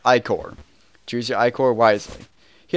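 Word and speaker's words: ichor: can fill with magical iore that's pronounced iore choose your iore wisely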